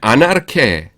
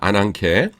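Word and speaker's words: ἀνάγκη: 그다음에 아나르케에 아나르케 아 아 이게 감마구녀요. 죄송합니다. 아난케입니다. 아난케 어 필요성 필연 강제 재난입니다.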